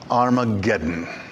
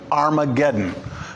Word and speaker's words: Armageddon: in the old testamento this is the Greek spelling of it this is the Greek pronunciation of it Armageddon it's a place it's